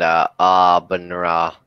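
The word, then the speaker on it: Aabenraa: They get Flensburg and Abenra. That's actually how you pronounce it.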